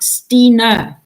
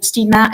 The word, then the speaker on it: Stine: It's pronounced Stine, so Stine. So Stina is probably the closest one you have. It's like Christine, but no Cree.